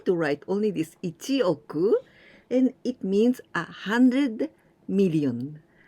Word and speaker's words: 億: So this 4, man, and the next 4, we pronounce oku.